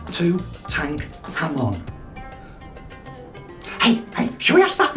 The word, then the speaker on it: Tutankhamun: And I think you'll find it's pronounced Tutankhamun.